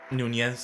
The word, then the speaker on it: Nunes: Kylie Barriers defeated Amanda Nunes, right? Nunez. Did I say it correctly? Nunez.